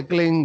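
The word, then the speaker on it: क्लीं: की मात्रा और बिंदी, इसकी ध्वनि निकलेगी ग से, क्लिंग ग, क्लिंग मैं नहीं, संस्कृत में क्लिंग होता है नहीं, क्लिंग है, अंग का उच्चारण होना पड़ेगा।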